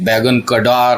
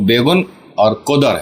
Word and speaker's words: Begunkodar: नाम है बहुत से बैंगन का डर और बहुत अलग-अलग तरह से लोग प्रोनाउंस करते हैं बट इसका जो तरीका है या सही तरीका है वह बेगम और कुंदर है ठीक है एक